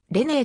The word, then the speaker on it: レネー: 稀ではないただフランス語圏と違ってドイツ語県内ではアクセントのないボインも発音されアクセントのある母音は超ボインになるため彼の場合にもぬねではなくれねえと呼ばれる彼のアンサンブルで